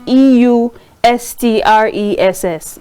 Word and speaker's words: eustress: This positive stress is eustress. They call it e u s t r e s s. It's pronounced eustress.